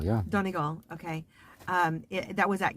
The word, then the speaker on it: Donegal: was at castle that dunga am i saying it right yeah danny gal yeah donegal okay um that was